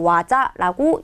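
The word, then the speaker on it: 技: 자, 음독을 하게 되면 기라고 읽어주시고, 그리고 훈독을 하게 되면 와자라고 읽어주시면 돼요.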